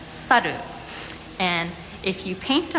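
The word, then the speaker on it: さる: the reason why is because in Japanese monkey you pronounce it as saru and if you paint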